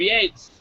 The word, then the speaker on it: Yates: It's Yates, Y-A-T-E-S. Oh, whatever. Gates, Bates, he's dead, so we can say his name if we want to. He's dead. Gates, Bates, Waits. Who cares? He killed. It means that his butler called him Master Yates, not Master Bates.